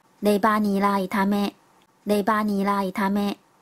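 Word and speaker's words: レバニラ炒め: 猪肝炒韭菜念作 Leba ni la itame， Leba ni la itame。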